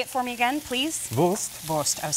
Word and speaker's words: Wurst: Wurst.